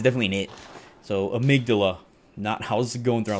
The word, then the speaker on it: Amygdala: I had to actually Google that shit because I did not know how to say Amygdala.